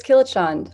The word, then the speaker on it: Kilachand: How do you pronounce Killeshaw? Is it Killeshaw? Is it Killicond? Is it like? It's a very. Yeah, no, fair enough. It's Kilachand. Also, I just Okay.